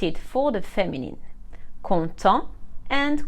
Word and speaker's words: content: of the masculine like conto and content happy as you can hear just like for nouns the consonant is silent at the end of the masculine but we pronounce it for the feminine conto and conton if the